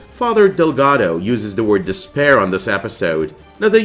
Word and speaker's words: D'Spayre: Now, the pronunciation of Despair, the villain name, has varied from one person to the other, but it is commonly pronounced as Despair, and it kind of